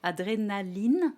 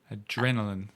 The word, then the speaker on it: adrénaline: why in French I can say adrénaline. Voilà, Right. adrénaline. So there's always going to be a stress on one syllable in French. No. See, I don't have a stress.